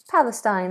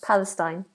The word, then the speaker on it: Palestine: because I'm not always 100% correct Palestine Palestine that's how it's pronounced Palestine but feel free to question if you're if